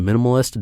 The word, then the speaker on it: mnmlist: focuses more on minimalism I guess it's pronounced a minimalist dot-com but I want to